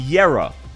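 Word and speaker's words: Kjera: Did you know that her name is pronounced Yera? And the country is pronounced Yerag.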